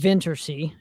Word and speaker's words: Vintersea: And you guys are currently on tour at this moment with Vintersea, if I'm pronouncing the band name properly. Yeah, you got it right.